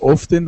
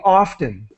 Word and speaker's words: often: English speakers use so there's nothing wrong with saying often and pronouncing all of the letters but if you're understanding native speakers they're going to they're going to say often they're not going to pronounce the T so often often often